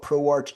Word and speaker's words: ProArch: It's It's spelled as ProArch, uh but it's pronounced as ProArc.